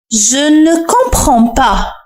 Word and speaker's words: Je ne comprends pas: لاحظ صوت ن أنطقه يعني مختصرا، كأنني أقول je ne comprends pas.